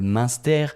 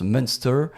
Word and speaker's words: Münster: On avait du comté évidemment, typique de là-bas, un fromage alsacien qui s'appelle le Münster. On pourrait croire que ça se prononce Münster, mais non, Münster.